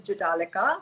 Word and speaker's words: Jhataleka: name is pronounced as jitalika the h is silent so for anyone who's